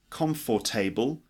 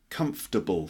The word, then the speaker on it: comfortable: nineteen the word comfortable it's not calm for table just comfortable three syllables are you comfortable would